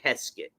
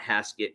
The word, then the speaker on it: Heskett: Heskett. Heskett, I think I'm saying it right, not Haskett, because that would be with an A.